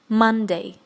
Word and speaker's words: Monday: So I'll pronounce them first and you can repeat after me. Okay, let's go. Monday.